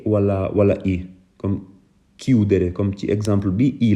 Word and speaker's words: chiudere: doon que parce que su ma ci bindul woon H prononciation bi dina doon chiudere waaye baat bi niñ ko waxee mooy chiudere kon bu fekkee ne ci